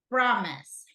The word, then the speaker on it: promise: what about let's see promise promise first or second first first correct thank you